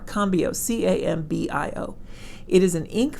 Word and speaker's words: Cambio: it's pronounced cambrio Cambio I don't know if there's an r in there no no R combio c-a-m-b-i-o it is an